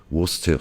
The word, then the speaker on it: Worcester: c'est typiquement anglais d'ailleurs la sauce anglais se prononce austère sauce et s'écrit worcester shire si les armées